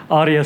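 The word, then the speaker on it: Aria: only this morning that I learned how to pronounce it correctly but Arya sounds quite accurate so Arya is really an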